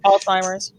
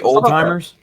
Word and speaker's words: Alzheimer's: I can never pronounce it properly. Alzheimer's. Yeah, Alzheimer's was last year, I believe. Did you say old timers?